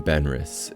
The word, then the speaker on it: Benrus: vibrant commercial environment the name benris is a unique brand name derived from Benjamin Lazarus combining the first syllable of his first name Ben and his last syllable of his last name Russ the timing was ideal